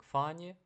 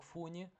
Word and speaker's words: funny: Чому слово смішно читається як фані, а не як фуні? Тому що, пам'ятаєте, якщо буква у зажата між двома, то ми її читаємо наближено до а в такому випадку.